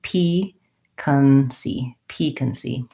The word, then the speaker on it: piquancy: Yeah, so it is first syllable stress, has the tense E, piquancy.